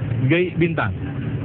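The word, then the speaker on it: Gai' Bintang: di Madura yaitu e g bintang nah ini kalau dalam tulisan itu Gai bintang namun bacanya G Bintang ini adalah satu lagu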